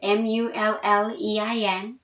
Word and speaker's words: mullein: of asthma and and other line issues it's mullion leaf in case i'm pronouncing that long is mu ll ein mullein leaf it's been known as the lung